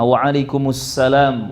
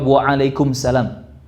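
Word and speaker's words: wa'alaikumus salam: dijawab dengan yang sama Waalaikumussalam warohmatullohi wabarokatuh Hai ini ketika menjawab salam banyak lafadz yang keliru diucapkan oleh teman-teman banyak yang langsung jauh Waalaikumsalam harusnya ada alif lam syamsiah disitu wa alaikumus salam us Hatta sekelas Ustadz pun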